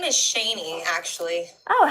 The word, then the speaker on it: Shaney: My name is Shaney, actually. Oh, how do I spell that? Um s h a n e y. Okay. Like Shane, but with a with a y at the end.